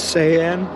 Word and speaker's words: sean: Sean is a word in Spanish. It's a verb, conjunction of ser, to be, and is pronounced as sayan.